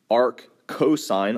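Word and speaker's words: arccosine: The way these are pronounced are arc s arc cosine all one word and arc tangent.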